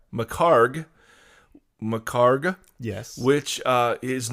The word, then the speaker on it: McHargue: Macarg.